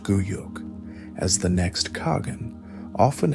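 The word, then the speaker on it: Güyük: secure the election of her own son, Guyuk, pronounced Guyuk, as the next Khagan, often against the wishes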